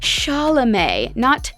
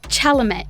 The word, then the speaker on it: Chalamet: last name is pronounced charlemay chalamet the c is more of an s and the t is actually silent now you can confidently